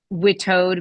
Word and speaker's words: WITAOD: Last week, it was determined officially by me, the official performing the duties of the acting administrator of the Witoad movement, that we are pronouncing it Witoad.